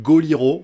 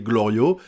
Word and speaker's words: Glorio: que à chaque fois il appelle goliro au lieu de l'appeler glorio et souvent il le